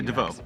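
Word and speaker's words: DeVeaux: Let's start off with our number one player right now, Nick DeVoe. I'm going to assume that's how you pronounce his name. It's D-E-V-E-A-U-X. Yeah, DeVoe.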